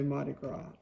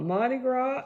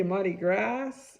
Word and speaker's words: Mardi Gras: again we have uh mardi gras and you do not pronounce that s so if you say marty grass that's wrong but if